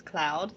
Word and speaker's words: Claude: So I did spell it differently, but because his name's actually Claude, but whenever you say it with his accent, it's Cloud. So that kind of makes it different, I guess.